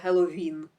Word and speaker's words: Геловін: Він з наголосом на останньому складі Геловін.